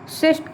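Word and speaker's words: cyst: इनकी ऐसे algal क्रेस्ट साइस्ट की तरह की जाती, सॉरी हमारा प्रोनाउंसिएशन थोड़ा गलत हो रहा है, सिस्ट की तरह की जाती है, एल्गल सिस्ट की तरह की जाती है।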